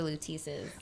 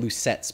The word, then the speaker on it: Luteces: The Luteces. I keep getting that name wrong. It's cool. I keep calling it Lucettes because it's like you don't pay attention to the middle words.